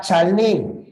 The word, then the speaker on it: chalé: palabra parqué la palabra chalé Y aunque en el francés hay una t al final esa t no se pronuncia le y por